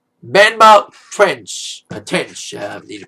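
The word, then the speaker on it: Benmont Tench: Benmount Tench. I need to pronounce his name right.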